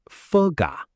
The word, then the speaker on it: phở gà: So he ordered cho anh một phở gà, một trà đá. Hold on, Alex. Let's focus on the tones here. Phở gà, ask tone and falling tone.